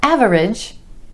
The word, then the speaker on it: average: eight average average not average average with emphasis on the first syllable and the vowel sound ah average above average that's